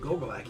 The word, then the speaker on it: Gogolak: By the way, good pronunciation. Gogolak, you nailed it.